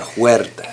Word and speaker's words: Huertas: Jon Huertas. That, exactly how you say it.